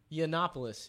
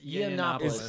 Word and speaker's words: Yiannopoulos: How do you pronounce his last name? Yiannopoulos. Yiannopoulos.